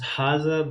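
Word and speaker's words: هذا: So the first one is called that we pronounce haza, but we write as haza.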